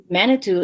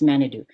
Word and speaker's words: manitou: him chief manitou um manitou is an ojibwe word from my language that means spirit it's just pronounced wrong it's manadu so there was never